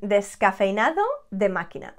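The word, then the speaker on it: descafeinado: cafe de scafeinado de escafenado de machina un descafenado 75 milk 25 coffee that is called leche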